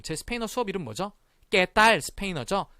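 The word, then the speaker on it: Qué tal: 깨딸 스페인어죠? 그 깨딸 할 때 깨가 이렇게 쓰거든요. 꾸에딸이 아니라 깨딸 스페인어입니다.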